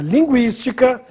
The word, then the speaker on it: linguística: também com a palavra linguística. Perceba que eu já tirei o trema, mas o acento no I é obrigatório, porque a sílaba tônica é a antepenúltima.